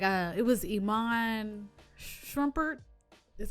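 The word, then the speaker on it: Iman Shumpert: to that too um like uh it was iman shrumpert that's how you say it the basketball player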